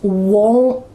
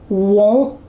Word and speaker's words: won't: Or in the negative contraction, my cats won't play. There's still a stop T happening, so it's still using that second rule, won't.